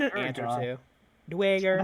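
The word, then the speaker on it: Duergar: You would see a few, mostly gnomes, some Duragar, the odd rare Tengu, and an ant or Duragar. two. Dwager, That's Dwager, They even have it, phonetically spelled in the book.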